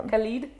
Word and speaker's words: Khaled: sorry yeah he had oh is that how you say it yeah khed yeah or Khaled but khed because I think DJ Khaled is associated with so just khed okay yeah he has it